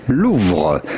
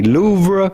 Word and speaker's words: Louvre: So how do you go about pronouncing this with the typical French pronunciation? Louvre. Le musée du Louvre. But in English or American, it'd be fine to say Louvre Museum.